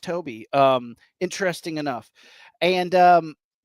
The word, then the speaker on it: Tobe: It is Toby. It's spelled Tobe, pronounced Toby.